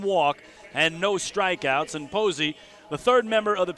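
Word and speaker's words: Povse: told us it was povsy the power has informed us it's pronounced posey so we're gonna go with max posey for the right-hander as with let's say buster posey but spelled a different way there you go so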